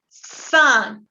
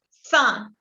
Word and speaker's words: cinq: Cinco, vous dites cinq. La Q se pronuncia como una K y la IN se pronuncia un, como un, no entiendo. Cinq.